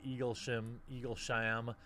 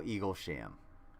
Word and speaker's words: Eaglesham: Eaglesham. No, Eaglesham. Eaglesham. Sham. It's spelled just like sham marriage.